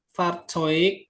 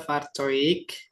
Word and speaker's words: Fahrzeug: Fahrzeug dibaca Fahrzeug. Sama in ihrer Nähe. Enggak Nähe tapi Nähe.